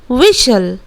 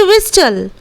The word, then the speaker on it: whistle: यहाँ पर टी है, but when we will pronunciate this word, जब हम लोग इस वर्ड को प्रोनाउंसिएट करेंगे तब हम लोग इस तरह बोलेंगे, विशल, विशल, ना कि विस्टल। हम लोग कभी भी विस्टल नहीं बोलते हैं बिकॉज टी इज कंसिडर्ड